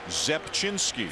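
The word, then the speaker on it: Zepczynski: Zepchinski.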